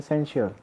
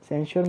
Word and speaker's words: censure: सेंश्योर मतलब क्या होता है, इसकी प्रोनाउंसिएशन ध्यान से सुनिए। सेंश्योर, सेंश्योर मतलब होता है ब्लेम करना या ब्लेम या